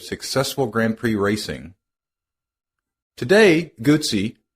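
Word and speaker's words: Guzzi: Grand Prix racing today guts pronounce it like pizza is best known for their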